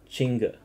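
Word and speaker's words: Qingque: When you Chinga is pronounced Chinga. A Chinka.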